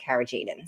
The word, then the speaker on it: carrageenan: And that ingredient that I mentioned earlier that I just learned about over the last week was carrageenan. Am I pronouncing that correctly?